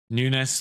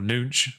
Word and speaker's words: Nunes: yet guedes looks good nunes looks good or nunch probably is pronounced but yeah the obviously